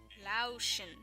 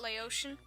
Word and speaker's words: Laotian: be watching my videos lotion not Laotian I thought was Laotian this whole time well I can't even